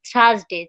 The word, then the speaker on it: Thursday: আর হচ্ছে তো পরে যদি আসি থার্সডে, THUR, THRUSDAY, আমরা বলি থার্সডে।